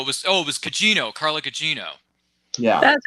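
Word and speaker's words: Gugino: was oh no it was oh it was Cino Carla Cino yeah that's how you say it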